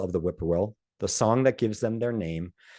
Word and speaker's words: whippoorwill: Generally translated or represented as whippoorwill, some of our field guides will point out that middle sound or that middle syllable of pour, actually, if you listen carefully, you can hear two parts to it. So it's more like purr.